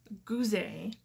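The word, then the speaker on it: Goozey: I also, you can find me on Pinterest at, my Pinterest name is Toni, T-O-N-I, Goozee. It's my husband's last name. It's French, so it's spelled G-O-O-Z-E-Y.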